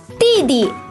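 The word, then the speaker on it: 弟弟: the first oh but the second daddy is pronounced as a neutral tone BB BB BB we have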